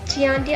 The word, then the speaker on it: Chianti: Actually, it's pronounced Chianti. I don't know. That's a Google pronounced, and it's a Italian restaurant.